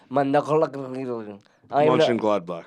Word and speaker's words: Mönchengladbach: lot of talks about him going to Borussia Mönchengladbach. Is that how you pronounce it?